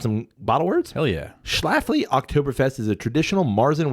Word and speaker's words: Schlafly: We've got the, how do you pronounce this? Schlafly.